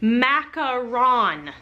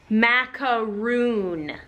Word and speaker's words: Macaron: It is pronounced Macaron, not Mack-a-ROON.